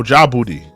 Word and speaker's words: Djibouti: That's how you pronounce it? Djibouti? Oh, nah, okay. Oh, Djibouti.